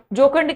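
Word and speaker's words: jocund: Next one इज जोकंड। जोकंड कैसा, joker जैसा, बोलिए, जोकर जैसा।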